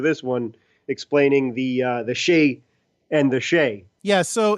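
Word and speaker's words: Skjei: out how to pronounce the guys name which was SK jei and he just gave up that was pronounced Shea so Brady Shay is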